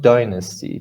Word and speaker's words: dynasty: procedure and this one dynasty dynasty the stress is on the first level not dynasty if you say dynasty your placements are on the second side right dynasty dynasty person